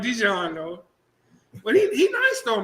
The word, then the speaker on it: Dijon: It's pronounced like Dijon though.